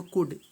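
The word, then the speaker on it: could: एक गोला लगाना है तो कुड सी ओ यू एल डी इसमें क्या सा एल तो इस पर एक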